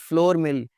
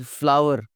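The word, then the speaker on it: flour: अगला लफ्ज जो आटा, इस फ्लावर, आटा, फ्लावर, हम सारी जिंदगी फ्लोर मिल जी, फ्लोर मिल, इट्स नॉट फ्लोर मिल, इट्स फ्लावर।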